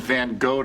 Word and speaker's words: Van Gogh: You two keep chugging like that, you're gonna have to Vincent van Gogh to the bathroom, am I right? It's pronounced Van Gogh.